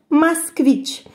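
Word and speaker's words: Москвич: A gente pronuncia Moskvich.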